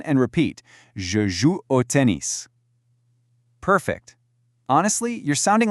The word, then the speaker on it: tennis: The French tennis has a very sharp, clear is sound at the end. Let's hear it. Listen and repeat. Je joue au tennis.